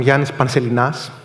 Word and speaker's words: Ioannis Panselinas: To get acquainted, I'm Ioannis Panselinas. This is how it's pronounced.